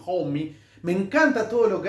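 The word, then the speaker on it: Homme: Zeppelin y el gran Josh Homy, se pronuncia así, Homy.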